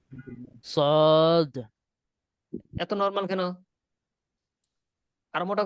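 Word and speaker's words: صاد: আওয়াজ দিয়ে বলতে হবে গোটা দিয়ে উচ্চারণটা হবে সদ উচ্চারণটা কি হবে সদ সদ সদ বলে নরম হবে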